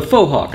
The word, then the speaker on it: faux hawk: liked the faux hawk, I should say.